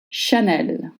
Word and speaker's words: Chanel: Chanel. Chanel. Keep it short. Not Chanel. Not Chanel. Chanel.